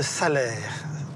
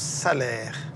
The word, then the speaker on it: Salers: Alors là, on rentre dans le pays de Salers. Ça s'écrit Salers, mais ça se prononce Salaire.